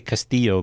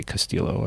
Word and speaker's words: Castillo: see you yeah and I'm gonna see Castillo because I mean that's the way it should be pronounced although people probably say Castillo I guess all the time